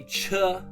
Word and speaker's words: char: So that's why we say ch when we see char because we pronounce the ch, you know, like a train.